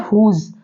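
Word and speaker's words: whose: जैसे वर्ड है हुज तो हुज में हम एच को प्रोनाउंस करते हैं यहां पर एच साइलेंट नहीं है याद रखिएगा आप लोग भूल मत जाइएगा यहां पर जो एच है वो प्रोनाउंस करते हैं इसको क्या पढ़ते हैं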